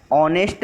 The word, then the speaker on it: honest: ही इज एन ऑनेस्ट worker. N before words beginning with vowel sound, so we will use N before honest. Honest worker. H is also silent letter in honest word.